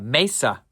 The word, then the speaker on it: Mesa: Uh Mesa is how you say their name.